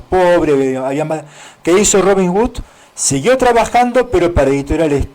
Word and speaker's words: Robin Wood: hombre de de en realidad de nombre irlandés, Robin Hood, ¿no? W. Robin Wood, como se pronuncia, o sea, es la palabra W o D.